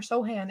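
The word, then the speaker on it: Sochan: and terrible Jeremy Sohan no it's not sochin it's Sohan or Sohan it's not sochin it's not it's not the college polish you're saying it wrong I swear in my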